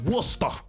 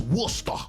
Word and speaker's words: Worcester: pronounced Worcester. That's Worcester.